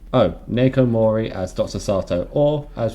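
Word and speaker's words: Naoko Mori: Nakoyo Mori as Dr. Sato. I think you've slightly overpronounced. I think it's just Nako. Oh, Nako Mori as Dr.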